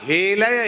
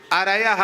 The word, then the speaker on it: अरयः: अरयः नहीं बोला, हे लया, हे लया, हे अरयः, हे अरयः ऐसा बोलना चाहिए।